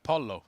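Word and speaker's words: pollo: we pronounced earlier yeah Polo is Italian 100% oh there we go yeah so yeah it's Polo it's not po it's Polo exactly okay I need to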